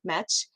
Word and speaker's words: Metge: It's Chrissy Metch. A French origin there, so there could be a little lesson just on that alone.